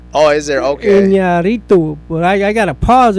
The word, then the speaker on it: Iñárritu: Iñárritu, Iñárritu. Alejandro Iñárritu. Well, there's an Enya there. Oh, is there? Okay. Iñárritu.